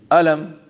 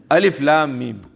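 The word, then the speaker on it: الم: In the beginning of the surah, wherever these letters come, you cannot pronounce them, alam. They have to be pronounced Alif Lam Mim.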